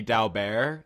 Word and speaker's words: Dalbert: Dalbert standard but it's it should be dal bear it's like a French name but like I don't know that whatever Americans happen to have that last name didn't pronounce it that way so that everyone's